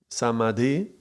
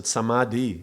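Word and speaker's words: समाधि: Is different in the way that D-H-I implies it's an aspirate sound.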